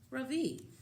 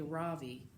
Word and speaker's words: Ravi: is Ravi it's pronounced Ravi with a soft Roth and a strong V in Sanskrit it means the sun in in America people call me Ravi with the stress on the first syllable that doesn't mean anything